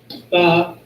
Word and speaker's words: Tha: But for right now, get to the last one, which is Tha. which is the 22nd letter in the Hebrew. Which is spelled T-H-A.